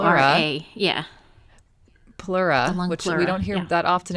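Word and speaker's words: pleura: imbalance which um is called how is it pronounced Jen the plura p l e a yeah plura we don't hear that often anymore the lung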